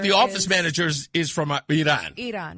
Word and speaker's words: Iran: It's Iran. That's how the people of Iran say it.